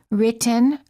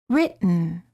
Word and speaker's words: written: the gum Ridge Buton similarly don't say written or written say written don't say kitten or